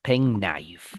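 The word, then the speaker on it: penknife: We only pronounce it as pen knife. We don't pronounce the K, right?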